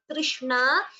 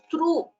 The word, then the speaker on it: तृष्णा: Here this letter Tr, it is a Gunitaksharam T plus R. It should be pronounced correctly as Trishna. It is not true. It is not three also. It is Trishna, like Krishna, like that.